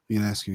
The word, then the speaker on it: Ionescu: pronounce this girl's last name? Sabrina what? Linescu. Ionescu, yeah.